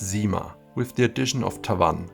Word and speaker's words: CYMA: It is pronounced CYMA, with the addition of Tavannes, and I will explain why this is here on this dial in a minute.